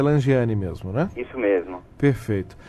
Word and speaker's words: Langeani: Apenas me corrija se eu estiver errado, a pronúncia correta é Langiani mesmo, né?